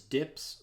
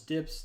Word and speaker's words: dp: And density independence in material design is commonly pronounced as DIPS, which is the abbreviation DP here, written as DP and pronounced as DIPS.